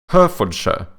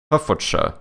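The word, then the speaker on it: Hertfordshire: was thinking about is Herford sh right which is like her for sh HF for Shire or something but I think you guys pronounce it horda or something mad I find this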